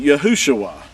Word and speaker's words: Yahushua: And so when you look this up in your Strong's Concordance, it's going to give you the name Yahushua.